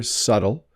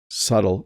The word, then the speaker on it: subtle: so you can hear subtle subtle there's no B happening here um and again I'm